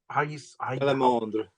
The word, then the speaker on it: Salamandre: Again, may I ask, can you pronounce the French version again? The French, Salamandre. Okay. So it's Salamandre. Okay. And then of course as we talked about, it's French.